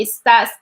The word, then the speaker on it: está: It's like estoy, estás, esta. So they have that accent. We have to pronounce it like emphasize it. Esta, está, or like estamos, estés, and están, and same ending that they add to the verbs.